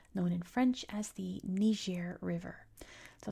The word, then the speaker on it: Niger: in French as the Niger River. So it's one of those places that depending on what language you speak is how you pronounce the river.